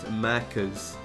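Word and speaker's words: Maccas: I I pronounce it like uh the Australians Mackas.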